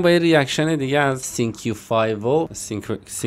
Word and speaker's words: Cinq5o: من اومدم با یه ریاکشن دیگه از سینکیو فایو. به گفته خودش ازش پرسیدم، گفت همینجوری تلفظ میشه، با 88 نوی رو